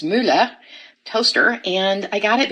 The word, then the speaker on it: Mueller: to share with you all I got this Miller toaster which appropriately should be pronounced Mula toaster and I got it because I really